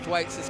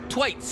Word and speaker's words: Thwaites: Thwaites, as they call him here. I call him Thwaites because I'm from Lancashire and we have a beer called Thwaites and it's spelt the same, so forgive me. But hey, Thwaites, and he said it's a Welsh name.